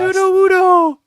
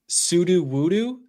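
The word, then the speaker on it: Sudowoodo: How do you pronounce Sudowo, by the way? Mhm. I'm putting you on blast. Sudow woodoo. Okay. I heard someone call it sudo woodoo and I think I wanted to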